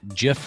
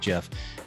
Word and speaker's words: GIF: out and said no it's gif it should be a hard g not a soft g anyway totally off the basis bear but um tick tock gifs i'm going to go with jeff is are there that's